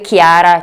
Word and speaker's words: Chiara: Fate attenzione al nome Chiara. Nel nome Chiara c'è il suono chi che si scrive CHI e invece sia in